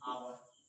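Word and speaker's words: hour: For example जैसे honest, यहाँ पर एच क्या है, साइलेंट है। आवर क्या है, साइलेंट है।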